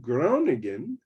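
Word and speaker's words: Groningen: eventually you went to the University of ground again right pronouncing it right I'm sure something like that right yeah and uh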